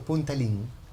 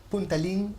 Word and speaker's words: Puntalín: nombre viaje al remoto punta link punta link es punta arenas está pronunciado como el chino puntarenas entonces el país es